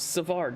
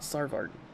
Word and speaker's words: Savard: Uh it's Savard, not Sarv.